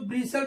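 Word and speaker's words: bustle: टी एल ई इसको बिसल पढ़ते हैं टी साइलेंट होता है बी यू एस टी एल ई बसल पढ़ते हैं ऐसे ही सी एच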